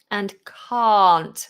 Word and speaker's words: can't: can't can and can't so can british english short ah ca can can't big long vowel for can't very different can't british english at least the rp which is the standard